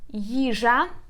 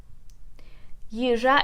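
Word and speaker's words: їжа: The next one is the word yizha. Yizha, it means food. Yizha. Let me just write a transcription for you. A stress. Yizha. Yizha. So we put stress on the first syllable.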